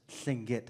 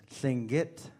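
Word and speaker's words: Tlingit: I didn't say everyone will you please pronounce singit after me sing it sing it singit very good you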